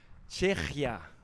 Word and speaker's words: Czechia: Branislav Sramek from Czechia. I've been told to pronounce Czechia.